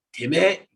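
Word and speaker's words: てめえ: Terus ada yang lebih nggak sopan lagi, ada temae ya. Kadang itu tuh kalau di anime atau drama Jepang bacanya teme gitu ya.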